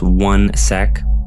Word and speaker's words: 1sec: And basically what 1sec is, it's pronounced 1sec.